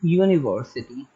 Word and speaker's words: university: Suppose I'm saying university. University start with U. It sounds like YOUU.